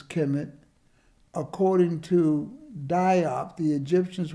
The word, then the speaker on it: Kemet: Ancient Egyptians referred to their homeland as Kemet, conventionally pronounced as Kemet.